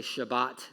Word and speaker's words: Shabbat: Maybe you've heard it say Shabbat. That's how you say it in Hebrew.